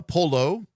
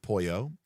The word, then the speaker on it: Polo: Um, George is, uh, Polo, not pronounced Puyo, who is a um, uh, what is it called?